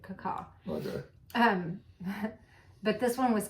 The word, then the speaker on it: cacao: last time we went, how they actually make cacao, is how they say it, cacao.